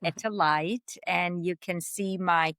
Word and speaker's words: Etel Leit: put my name dete lit t which is pronounced etalite and you can see my courses I have